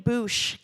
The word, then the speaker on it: boosh: better for it so the name boosh came from a slightly nonsensical version of mouth I know it's spelled differently boosh but it was just kind of a fun play on words um if you look